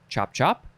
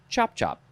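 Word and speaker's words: chop-chop: the words actually yeah you can pronounce it chop chop or chop chop you can emphasize either chop however you feel you would like to pronounce chop chop but you can't emphasize them equally you must emphasize one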